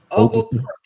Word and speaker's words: Oglethorpe: Oglethorpe. Okay. The T is silent.